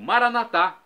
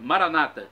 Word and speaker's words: Maranata: e agora eu clamo Maranata do dialeto de Jesus o aramaico nós católicos colocamos a tônica na última sílaba nossos irmãos separados evangélicos ou protestantes colocam a tônica na penúltima sílaba Maranata não importa significado é o mesmo português vinde Senhor Jesus